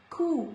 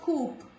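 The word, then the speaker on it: coup: Coo, this is not coop, this is coo.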